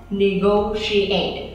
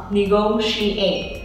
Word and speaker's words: negotiate: Negotiate. Mình không đọc là negotiate, không đọc là negotiate, mà đọc là negotiate. Cho nên lúc này mình sẽ có âm sh, mình phải cong lưỡi nha. Negotiate.